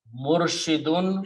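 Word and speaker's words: مرشد: Both of these words have two dhammas at the end, and these are the original wali yun when we start say wali, murshidun when we start we say murshid.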